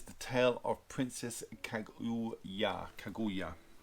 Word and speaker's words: Kaguya: Kaguya. That's how they pronounce it in the film.